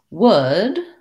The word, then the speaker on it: would: can i can go and finally would this sounds the same as wood as in the table is made of wood and that has my oh wow my good book vowel and so in in